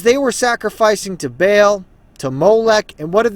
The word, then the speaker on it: Baal: And they built the high places of Baal, which are, and I'm aware that, the pronunciation is Baal, whatever, but we just say Baal for convenience sake, which are in the